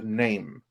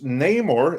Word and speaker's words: Namor: she then explained that they have retcon the name because Neymar is no longer pronounced name or it is now pronounced Nam